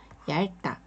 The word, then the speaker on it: 얇다: 얇다 이것도 어 우리가 어떤 분들이 아직도 이렇게 어이 두 가지를 다 발음하고 하시는 분들이 계세요 절대 그러지 마시고 그냥 어 자신있게 얇다 이렇게 읽어 주시면 되세요 리을 받침만 소리를 내 주시면 됩니다 얇습니다니다 여기서도 주저 없이